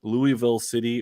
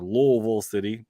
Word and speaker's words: Louisville: of loose city or louisville city or louisville city depending how you want to pronounce that versus orange county